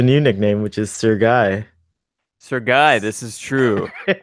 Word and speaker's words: Guy: So for anyone listening, my middle name is Guy, but I'm French Canadian, so it is actually technically pronounced Guy.